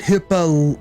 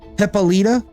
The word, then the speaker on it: Hippolyta: you've always pronounced it Hippolyta. Chat told me one time that it's more like puh, like P-U-H, so like hippa, which that's kind of what you're doing there, right? Hippolyta.